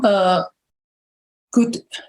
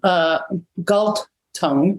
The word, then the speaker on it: Galtung: And so John Gut, I always mispronounce his name, Galtung, he's the founder of peace studies.